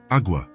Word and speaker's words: agua: "Agua," Elena replied. "It's pronounced agua, with a very soft G-E.